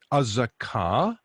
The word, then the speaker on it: Azekah: continuing in alphabetical order azaka is how we pronounce this city azekah in english uh now we're back